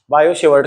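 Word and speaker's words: Biot–Savart: इसे ऐसे लिखते हैं बायोट सवार्ट्स लॉ जिसमें ये टी साइलेंट है और सेवा को सवार लिखते हैं बायो शेवर्ट का नियम अच्छा वैज्ञानिक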